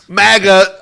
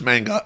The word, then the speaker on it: manga: He said MAGA 11 times when it's manga, and I screwed up.